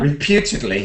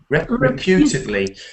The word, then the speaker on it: reputedly: again, it shows that when you change the form of a word, so we have reputation, and reputedly is not reputedly. It's you see, we have to change the sound of each word, and that's one way